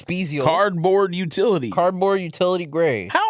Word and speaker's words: Spezial: It's a special, however you pronounce it. Like I said, It's Spezial.